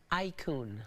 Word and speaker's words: iCoone: Help me with the pronunciation. Is it iCoone? iCoone.